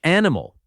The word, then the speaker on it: animal: Number 27 is animal. This one keeps all three syllables. An imal. But many learners stress the wrong part. The stress goes on the first syllable. Animal, not aimal.